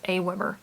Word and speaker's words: AWeber: haven't used it myself i actually had to look i had to go to their youtube channel and listen to somebody pronounce it because i didn't know how to how to say it it's aweber just from some quick